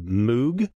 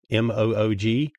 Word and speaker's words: Moog: was using and he referenced the Moog m-o-o-g it's pronounced Moog oh my God so